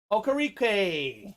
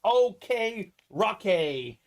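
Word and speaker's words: Okereke: reappearing we got bobby okarique hey i think it's pronounced like okay rocky but i know we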